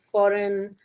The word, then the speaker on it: foreign: Foreign the G is silent.